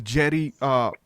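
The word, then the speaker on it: Djedi: are talking about the Jedi priest from Egypt. Like there was a real priesthood of magicians called the Jedi. I think it's spelled D-J-E-D-I. It's got a D in front of it.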